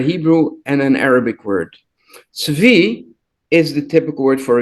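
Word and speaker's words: צבי: Tzvi is the typical word for a gazelle, or sometimes also used for. But the first letter is nowadays often by many people pronounced as a ts.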